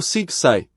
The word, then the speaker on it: psi: do alfabeto grego e se pronúncia em inglês como sigai correspondente a suspiro o som em português é mesmo Psi Psi também é a